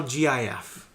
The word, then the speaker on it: GIF: guy who made it said it's pronounced GIF.